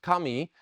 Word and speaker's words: kami: Asian religion might recognize the Chinese character for God or deity uh that in Japanese uh is uh pronounced Kami uh that's the same